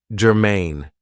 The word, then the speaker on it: germane: Now, this is 2 syllables, and the stress is on the second syllable, germane.